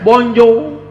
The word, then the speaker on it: Bonjour: waktu Hai tulisannya bonsoir Tulisannya Bonjour bacanya Bonjol tulisannya bonsoir bacanya Moon